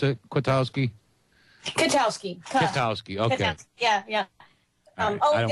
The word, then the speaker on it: Kwiatkowski: Is that how you pronounce it? Kwiatkowski? Kwiatkowski, okay.